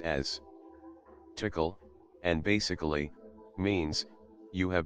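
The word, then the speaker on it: תקל: single word in the ancient Hebrew language that's pronounced as tickle, and basically, means, you have been weighed on the scales and found deficient.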